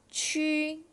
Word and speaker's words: 曲: 然后在这边呢，这个字我们可以读成曲，它其实呢也可以读成曲。